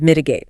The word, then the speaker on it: mitigate: We need to benchmark our customer retention rates against the industry leaders and mitigate. I hear this in every risk assessment meeting ever. Mitigate, pronounced MITE, means to make something less severe, harmful or painful.